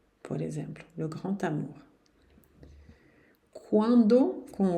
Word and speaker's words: quand: O D não se pronuncia também, não. Um grande barco quando vocês quiserem. Beleza. Na frente de uma vogal, vou ter que fazer a liaison. E esse D vai ter um som de T de tatu.